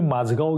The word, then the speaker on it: माजगाव: आहे पहिल्या पुस्तकामध्ये मी माजगाव घेतलय तर मी माजगावच म्हणतो पण माझ अचानक लक्षात आली माजगावची स्पेलिंग आपण ज्या रूढ पद्धतीने लिहितो तशी नाहीय स्पेलिंग नुसार वाचायला गेलं ते माझा गॉन आहे मी म हा